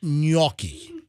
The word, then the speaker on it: gnocchi: called and they're out of you guys it's pronounced gnocchi all right okay so if you want to